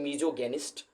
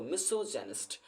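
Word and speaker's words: misogynist: जैसे कहते हैं मीजोगेनिस्ट, जबकि इट इज not literally right. मिसोगेनिस्ट नहीं होता दोस्तों, मिसोजेनिस्ट।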